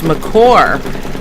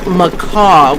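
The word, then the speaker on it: McCaw: And they kept saying the captain, his last name was McCore. And we couldn't find it anywhere. It turns out it was macaw, we would pronounce it.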